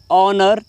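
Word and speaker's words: honour: यहाँ पर जो एच वर्ड पहले आया है, यहाँ पर ये एच बिल्कुल साइलेंट रहता है, ये बिल्कुल भी बात नहीं करता है। यहाँ से ओ से पढ़ते हैं तो ऑनर बोलते हैं इसे, ठीक है।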